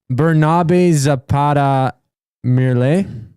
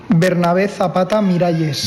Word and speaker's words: Bernabé Zapata Miralles: Bernabe Zapata Mirales? Is that your final answer? Bernabe Zapata Mirales. Final answer. This is how you say it. Bernabé Zapata Miralles. Bernabé Zapata Miralles. Bernabé Zapata Miralles. Miralles.